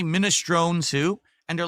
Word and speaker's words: minestrone: That's the Italian pronunciation, minestrone. Not minestrone, it's minestrone. But in American or English, you pronounce it minestrone. It's a silent E, just like provolone.